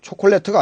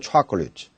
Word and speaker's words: chocolate: 보시면이 부분 자콜 5x니까 chocolate 초콜릿가 아니고 chocolate 근데 5가 가 의용비용되는 겁니다. 콜레트가 아니고 chocolate delicious banana tomorrow hospital correcting enough family factory history vegetable vegetable vegetable councilor cameral memory.